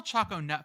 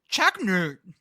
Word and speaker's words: Choconut: But in Pennsylvania, it's pronounced like Chocolate.